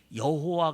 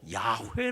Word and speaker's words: 야훼: 뭐라 그러는 거 아니 여호와 가 진짜 다름이 아니고 야외 라고 읽어야 이게 진짜 바릅니다 그게 사실적인 가장 사실적인 발음이 될 거다 이렇게 주장을 하게 되었습니다 그 이후에 자신은 일반적으로 야훼 라고 하는 이 네 글자는 야외 라고 읽어야 된다 이런 주장이 공통적으로 받아들여지고